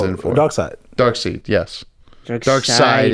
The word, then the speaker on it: Darkseid: Dark Side. It's written seed. It's Yeah. pronounced side.